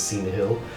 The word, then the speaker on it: Syneyhil: He thanks you for your time, and he says, my name is Cena Hill. And he reaches out to shake your hand, and it's pronounced or spelled, if you want to know that, SYNEYHIL.